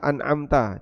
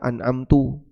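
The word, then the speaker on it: أنعمت: Wa in kana yughayyir, namun jika kesalahannya mengubah makna, kadhammita, pada kata an'amta dibaca an'amtu, ghairil maghdubi ihdinas siratal mustaqim siratal ladzina an'amtu alaihim, atau di kasrah an'amti, maka salatnya batal.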